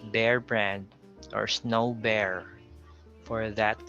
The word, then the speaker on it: Bear Brand: example we have bear so it's not beer brand or be brand it's bear brand or snow bear for